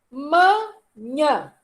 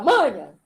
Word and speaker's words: manhã: Qual é a sílaba tônica? Nhã. A última. Nhã. Nhã. Porque ninguém fala manha. Manha é outra coisa. Menino, larga de manha. Ele é oxítona.